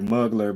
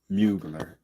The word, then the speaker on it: Mugler: or whatever, but uh smell like muggler, but I've I think I've heard people pronounce it uh mugler.